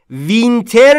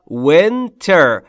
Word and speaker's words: winter: فقط تلفظشو. وینتر نیستا. Winter. ایش بین ای و ای و دبلیوش هم که قبلا بهتون گفتیم بوسه رو بده بیاد. Winter.